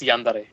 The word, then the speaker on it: yandere: males and H you're saying it correctly it's yandere okay it's basically just a um a characteristic